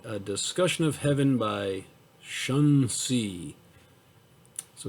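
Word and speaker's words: Xunzi: bhagavad gita and a discussion of heaven by shun c so it's a confucian scholar that's spelt x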